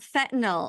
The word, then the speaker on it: fentanyl: So let's talk about fentanyl, and maybe let's start with, how do you pronounce it right?